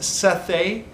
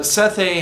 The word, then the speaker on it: Sethe: The woman is called, I think it's pronounced Sethe. It's spelled S-E-T-H-E.